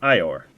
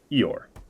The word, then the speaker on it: Yidnar: Yidnar pronounced like Ior. Eor.